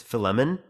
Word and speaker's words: Philemon: If you look up what's called I don't know how to pronounce his name, it's Philemon, right?